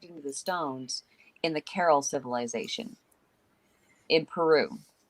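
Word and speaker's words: Caral: famine one right after another it's called the carol uh i'm probably pronouncing wrong it's c-a-r-a-l it's the carol civilization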